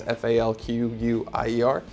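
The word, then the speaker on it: Fauquier: before the revolution, Governor Falquier. I want to say that's how you pronounce his name. It's Falquier.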